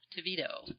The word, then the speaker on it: TeVido: Pronounce it for me. TeVido.